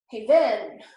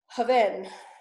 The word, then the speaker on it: haven: So hey, then. It's not hey, then, okay? That would be the accent. Haven.